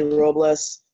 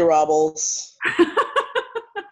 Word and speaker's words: Robles: I have you here well it is Spanish but I kind of see it American like my whole family will see will see Robles I say Robles I know I also need to pronounce or roll the arts wilderness but whatever just don't say Raul's Stacey Robbins other than